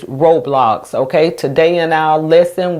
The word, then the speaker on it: Roblox: And the reason why the O is not going O in that syllable and is going ah is because the syllable ends in the consonant X and it's blocks.